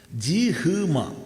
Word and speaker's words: ജിഹ്മ: ബ്രഹ്മ എഴുത് ഹമ ഉച്ചരിക്കുമഹ അതുപോലെ തന്നെയാണ് ജിഹ്മ എഴുതുക ഉച്ചരിക്കുമ്പോഴോ ജിംഹമ ഇത് നിർബന്ധമില്ലട്ടോ ആരെങ്കിലും തിരിച്ചു